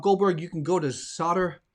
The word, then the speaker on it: Zotter: chocolate um bob goldberg you can go to solder it's actually pronounced solder not zotter solder usa that's where you get it so